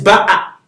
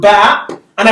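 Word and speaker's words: بأ: consonant now because of the hamza on it. So it is ba'a in this case. But if I put ba and I put nothing on the alif, this alif is elongating the ba. This is ba. Is that okay? And this is ba'a.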